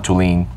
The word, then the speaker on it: Thulin: If you had to introduce Thulin, Thulin or Thulin? Thulin. Thulin. Like to lean on something. Okay, with the accent on the second.